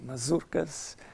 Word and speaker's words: mazurkas: They should be pronounced like that, by the way, mazurkas and polonaises throughout his life.